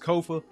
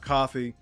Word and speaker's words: Kofa: Once again, I am your humble host, Kofa. Ko FA, not coffee, not, not kofi, or any variation thereof. Kofa rhymes with sofa.